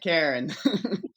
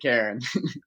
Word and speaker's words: Caron: Karen. Ah, yes. Yeah, it's it's French Canadian, so if you're French, you could pronounce it differently, but I pronounce it Karen.